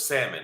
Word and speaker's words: salmon: You don't pronounce the L. With salmon, I had some very